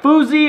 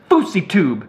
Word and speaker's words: Fouseytube: If you say my name like Fousey or Fousey, I ain't playing with all that. My name is Fouseytube.